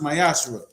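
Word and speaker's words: ma'aser: Means tenth in Hebrew and is pronounced Mayashra.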